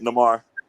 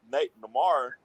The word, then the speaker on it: Namor: Namor. Is it Namor or Namor? Am I saying it right? Everybody pronounce it Namor. So it's Namor.